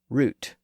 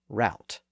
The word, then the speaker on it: route: r o u t some people use the original pronunciation root and some people use the newer pronunciation altered by the great vow shift route as recently as the